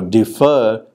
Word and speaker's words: defer: Now, defer has the second syllable stressed.